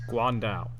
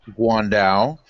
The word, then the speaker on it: guandao: How do you pronounce it? Guandao.